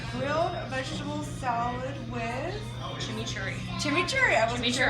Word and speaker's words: chimichurri: chimichurri.